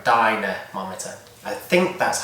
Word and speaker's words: dynamometer: I'm pretty sure it's 2 words, dynamometer. I'm pretty sure that's how you know, like the lady's name Dinah, and then a mometer, like a thermometer or a dynamometer.